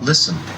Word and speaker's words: listen: loud story I got the letter T is silent listen listen fasten fasten P mortgage margin must m